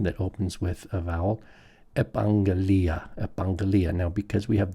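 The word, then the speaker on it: ἐπαγγελία: Now, because we have the double gamma, the first one turns into a nasal, right? We have nasalization, so it's epangelia. Epangelia, and the accent's way back here at the li.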